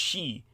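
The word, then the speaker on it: sidhe: It's spelled si dhe, but it's pronounced she. It's Celtic.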